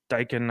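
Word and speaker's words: Steichen: And then uh Shane Stken, I can never say his name right at uh 2200.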